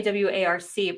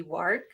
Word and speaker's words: WARC: other publications such as, I want to say WARC, but maybe WARC is another way of saying it. You pronounce that like spot on. Most people can't do it. It's like work, but you got it spot on there, Carrie.